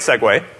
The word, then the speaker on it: segue: that's actually a great segue which is if you've ever actually read the word segue it is not pronounced like it is spelled let's talk about how